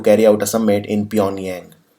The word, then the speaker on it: Pyongyang: out a summit in pyongyang beyond yang G is silent here but okay you can pronounce it doesn't matter Pyongyang also you can